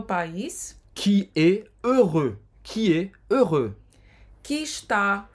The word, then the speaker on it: heureux: Heureux. Heureux.